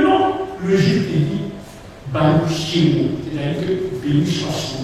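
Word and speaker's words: שם: Souvent les gens disent c'est pas Sem, c'est Shem, Hachem, c'est-à-dire le nom.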